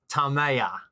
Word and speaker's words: Tamaya: So, but Tamaya, what's the correct pronunciation so we can set the record straight? Tamaya.